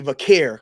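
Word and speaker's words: Vaquer: Uh I'm I'm going to say it like Michael Cole now. Vakair because people can't say I'm wrong because that's how Michael Cole says it.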